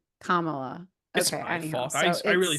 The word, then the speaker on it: Kamala: witch B I'm I'm Kamala oh well listen but uh I just said it wrong again Kamala my fault I I